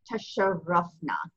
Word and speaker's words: تشرفنا: Tasharafna, tasharafna. So you hear it twice, it doubles the letter.